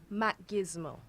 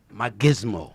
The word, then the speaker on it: Macgizmo: I know how it's spelled, so what I'm going to do is, you're Jane what? Macgizmo. Macgizmo. Yes, Macgizmo.